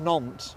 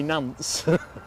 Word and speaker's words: Nantes: Yeah, apparently it's pronounced Nantes. I used to say Nantes. Always wrong.